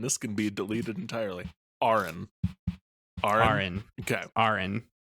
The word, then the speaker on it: Auron: How do I pronounce this name again? Do not cut this. Do not cut this moment. It's Auron.